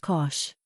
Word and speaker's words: cosh: shine or sometimes cinch the hyperbolic cosine function pronounced cosh and the hyperbolic tangent